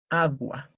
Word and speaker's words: agua: Entonces, al decir esa palabra, pues, la mayor fuerza de voz está en la A, agua.